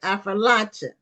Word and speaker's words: Appalachia: Okay, Appalachia. It's like I'll throw an apple at you. So Affrilacia. it's almost like I it's four like that. syllables. Appalachia. It's four syllables.